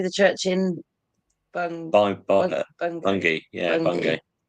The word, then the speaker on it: Bungay: Yeah, Bungay. It's spelled Bungay, but they say Bungay or Bungay as well, which is also near here.